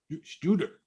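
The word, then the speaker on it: Tsjuder: Spell it, Nick. TSJ UDER. Shooter. You almost said it like Bay City Rollers when you started saying that name. What is Shooter.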